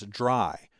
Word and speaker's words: DRY: is dry code now I'm always going to pronounce that as dry but it's actually three letters Dr Y which stand